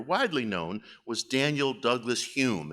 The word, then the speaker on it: Home: known was Daniel Douglas Hume it's spelled home but it's pronounced Hume now Hume uh was a physical